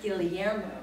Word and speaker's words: Guillermo: And to my right, and is, I'm going to pronounce this correctly because it's not pronounced in a way that I'm familiar with, is Guillermo.